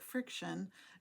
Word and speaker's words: FriXion: uh and the reason that they call it friction is that you write on it and then